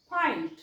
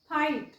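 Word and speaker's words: fight: याचा उच्चार करायचा लाईट तसच याचा उच्चार कराल फाईट फाईट जी एच सायलेंट घ्यायच तसच इथे पण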